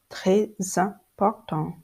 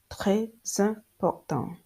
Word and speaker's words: très important: For instance, très important, très important, très important. So there is a linking. It is called a liaison. There is a linking between the final consonant S and the beginning of this vowel E, and the linking give